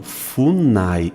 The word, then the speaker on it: FUNAI: Eu pronuncio como se fosse um acrônimo. Eu vou colocar aqui, ó, acrônimo. O que é um acrônimo, gente? É como se fosse uma palavra. Um acrônimo. FUNAI. Eu não digo F-U-N-A-I.